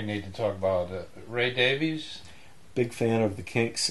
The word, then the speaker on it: Davies: Ray Davies. Big fan of the Kinks and Ray Davis, or Davies. I think he pronounces it Davis, and everybody else in the world pronounces it Davies, I believe.